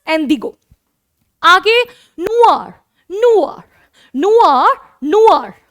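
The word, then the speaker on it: indigo: ठीक है, बस इसकी प्रोनाउंसिएशन मतलब बदल जाती है, दैट इज एंडिगो।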